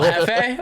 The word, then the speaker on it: Jefe: Like Little Hefe or Little Jeffy? Yeah. Well, it is Hefe, but we went to this Mexican restaurant at World Cup when we were still Aftermath, and I wasn't saying it correctly.